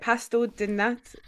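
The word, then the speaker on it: pastel de nata: Pastel di nata.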